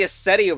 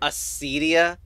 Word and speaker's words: Acedia: Arguably Acetia was not used very much at all. Also, apparently it's supposed to be pronounced Acedia.